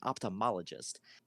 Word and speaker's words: ophthalmologist: They go, no, there's an extra syllable in there, an ophthalmologist. An ophthalmologist is just like an eye surgeon.